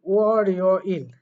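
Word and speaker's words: 월요일: অ, তারপরে হবে রি ও, তারপরে বলবেন ইল, ওয়ার ইয় ইল। তাহলে এই বিষয়টা বলছে। এরপরে হোয়া ইয় ইল, এটার উচ্চারণ হয় হোয়া, ও আ ই ও ইল, হোয়া ইয় ইল।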